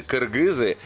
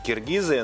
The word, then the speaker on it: кыргызы: я и хотел это уточнить, потому что мы привыкли произносить киргизы, но я вот смотрю и в именах, и в каких-то названиях, в основном буква «ы», самая любимая буква кыргызского языка.